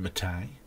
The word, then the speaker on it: MATE: Or you can have Mate, which is spelt mate, but they insist on being called Mate.